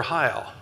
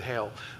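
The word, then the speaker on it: Heyl: And I asked them, "Is it pronounced hail or hy?" And they said, "We've always pronounced it hy. That's that's our family name. There are other people who want to pronounce it hail, but um but yes, that that is one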